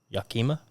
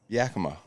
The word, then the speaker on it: Yakima: Yakima.